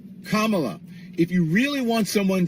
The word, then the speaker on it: Kamala: did you know that the Camila Harris K La Kamala if you really want